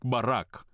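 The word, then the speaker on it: ברך: Наєвриті слово благословляти звучить як барак. Воно читається справа наліво. Бет, скажіть, бет скажіть. Реш, скажіть каф, барак. Ці три літери вимовляються як барак.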